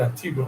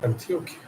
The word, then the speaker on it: Antioquia: Not Antigua, Antioquia.